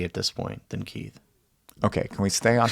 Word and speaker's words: Keith: are different and so they would call me get all the time because they couldn't pronounce Keith right so they'd call